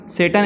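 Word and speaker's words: Tsetan: टीसन सेटन इसको कहा गया, टी साइलेंट है यहाँ पर।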